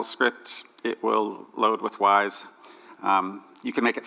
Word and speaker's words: YS: It's pronounced Wise because it's the plural of Y.